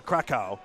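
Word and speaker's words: Kraków: How do you pronounce that? Krakow.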